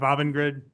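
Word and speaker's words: Avangrid: Avon Grid. Yes, sir. Thank you. Did I pronounce it correctly? Close enough. Avenid.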